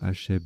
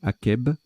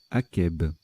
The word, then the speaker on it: akeb: On ne dit pas Hacheb, mais Akeb. Au Sahara, végétation qui pousse après une averse. Akeb.